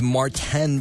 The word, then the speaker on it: Martin: But if your name is Martan, then don't spell it M A R T I N. He's French Canadian.